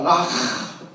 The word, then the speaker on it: 라가: 라가라 하지 말라. 락. 침 뱉으려고 하는 그 발음입니다.